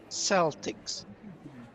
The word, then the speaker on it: Celtics: Celtics. It's Celtic. Celtic. The only people who pronounce it that way are the Boston Celtics.